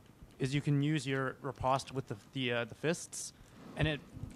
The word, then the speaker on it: riposte: I've never heard it pronounced like that ever. That's because it's like French.